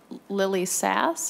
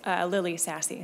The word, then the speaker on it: Lily Sassy: It's Lily Sassy, so very close.